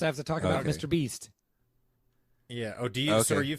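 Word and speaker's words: MrBeast: person it's not just mr beast it's not it's not merb east merb east yeah so last uh towards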